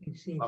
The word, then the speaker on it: incinta: Incinta. La mamma dei cretini è sempre incinta. And so that's C pronounced like a C I or church C. So, incinta.